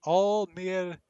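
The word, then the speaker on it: Almiraj: So that's how you pronounce it. Almirage.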